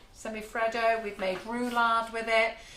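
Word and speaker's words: semifreddo: Semi-fado? Semi-freddo.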